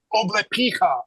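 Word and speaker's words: облепиха: That's how they say it in Russian.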